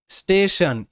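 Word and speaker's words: station: স্টেশন, STA stay, stay, TION Shaan, স্টেশন, স্টেশন।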